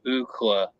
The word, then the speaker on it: Ookla: And they said, well, let's just call him Ookla, and they just spelled it out phonetically.